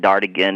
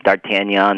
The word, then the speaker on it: D'Artagnan: Yeah, okay, I'll start off with your pronunciation of D'Artagnan. It's not D'Artigan, it's D'Artagnan.